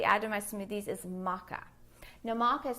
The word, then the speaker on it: maca: thing I typically add to my smoothies is maca now Maca is spelled m-a-c-a maca powder is great because it's